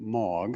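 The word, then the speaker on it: M3AAWG: against it uh so the three is silent in that name in 2009 they asked the ietf for liaison and I was it so here's a MOG slide um tells you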